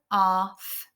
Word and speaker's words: laugh: an R sound, R, and then the G and the H are making a F sound, which that never normally happens. So it is a really quite a tricky word. So laugh. It's one of those we just have to learn to remember.